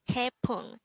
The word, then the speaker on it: 태풍: number 188 this is pronounced as a two-syllable word the first syllable is te the second syllable is pong pronounce it with me the word tepung is a noun which